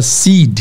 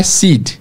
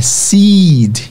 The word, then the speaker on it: seed: que é semente, e não é seed, é seed, sticking, tá? Repete aí onde você estiver, no ônibus, no metrô, em casa, no trabalho, fala seed. Vamos lá, fala aí mesmo, se vocês não falarem eu não continuo, tá? Seed, semente, fechou? Tem vários verbos, feed, meet, eat, todos que têm duas vogais juntos vocês vão esticar e fazer o I longo, beach, leave, de sair, né?